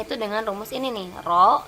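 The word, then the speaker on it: ρ: dengan rumus ini nih Roho ini bacanya ro ya bukan p tapi Roho R ama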